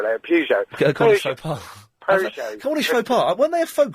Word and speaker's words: Peugeot: Sorry, how do you say it? Peugeot. Yes. Peugeot. How do you say it? I say Peugeot. I'm going to say Peugeot from now on, though.